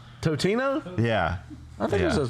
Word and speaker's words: Totino's: Tostinos. You're not saying that right. How do you say it? I don't even know how to say it. There's no S in there. Tostino. There's no S. Totino.